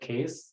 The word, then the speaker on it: CAIS: Again, talking to an RIA, to educate yourself, you can use a platform called CASE. Again, it's just an educational platform. CAIS is how it's spelled.